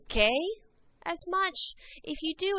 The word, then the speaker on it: que: Remember, anytime there's a Q and U together, it makes a cuss sound. So make sure you're pronouncing these correctly. Que, quien.